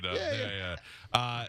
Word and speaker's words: Dov: I know, but it's DOV.